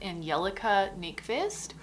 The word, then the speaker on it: Angelica Nyqvist: nice i realized that i totally said her name wrong before it is angelica nick fist but that is the